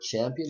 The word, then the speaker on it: champion: word CE o n it is not champion if you say champion is that's incorrect it is incorrect because here we have the sound of schwa the sound of schwa is neutral and it's pronounced so if you have